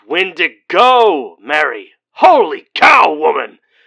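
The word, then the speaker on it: Wendigo: right does does it still hurt being a windig goat it's windigo Mary holy cow woman how do you not properly pronounce the subject of all your grandmother's teachings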